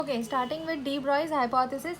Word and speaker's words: de Broglie: Okay, starting with de Broglie's hypothesis, it is pronounced as de Broglie, not de Broglie.